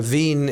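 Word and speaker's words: Wien: Uh Vin is the actual German name of Vienna. Wen pronounced Vin.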